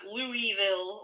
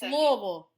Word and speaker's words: Louisville: december 6th 1993 in our hometown of louisville not louisville or lewisville god i hate when people say that it's louisville louisville louisville that's that's how you say it guys yeah that's probably